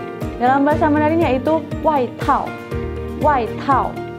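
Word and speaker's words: 外套: Jadi bacanya qunzi. Nah, kosakata berikutnya yaitu jaket. Jaket. Jaket. Dalam bahasa Mandarin yaitu waitao. Waitao. Waitao.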